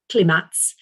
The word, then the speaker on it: climats: the notion of climat, so spelt climats, but pronounced climat, and they sort of decided on which soils were good for what, and based on the microclimates.